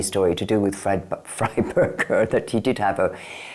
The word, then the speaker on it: Freiberger: It's supposed to be Freiberger, not Freeberger.